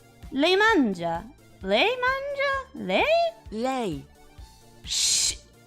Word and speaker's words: lei: Lei mangia. Excuse me? Le mangia. To eat, right? Mangia is eating. Mangia. Yeah. Le mangia. Le mangia? Le? Lei. Shh. Lei.